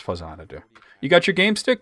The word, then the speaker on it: Faxanadu: Which I know he mispronounces. He's going to say Faxanadu, I guarantee you. Yeah, he just said Faxanadu. It's It's Faxanadu.